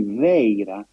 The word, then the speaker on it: Vaira: Vajra, the thunderbolt, is Vaira, which is extremely well attested in inscriptions and manuscripts. But the best approximation for the pronunciation of Vajra, Vaira, in Prakrit, Gandhari, is actually Veira, which is exactly the